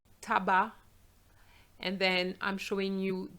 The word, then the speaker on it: tabac: Now words ending with a C, silent, banc, which is a bench, blanc, tabac.